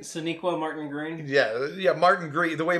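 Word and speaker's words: Sonequa Martin-Green: Sonequa Martin Green.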